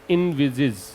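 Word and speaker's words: envisage: इसका प्रोनाउंसिएशन ध्यान रखें, इनविजिज, इनविजिज।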